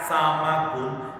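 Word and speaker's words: سَمَك: Samka, ini pakai sukun di mimnya, samkun. Artinya apa? Langit-langit. Langit itu kalau diibaratkan langit-langit atau atap, ya. Kalau dibacanya samaka, samakun, itu artinya bukan atap atau langit-langit, tapi artinya ikan. Ikan bahasa Arabnya samakun.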